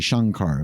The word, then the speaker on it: Shankar: for a second because what looks like Sankar is actually Shankar I mean it's the